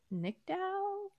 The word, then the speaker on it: Nicdao: So Charlie Day is an EP and Rob, I don't even know how to pronounce his last name, McElhenney. Okay. Stars Charlotte Nickdow, NICDAO.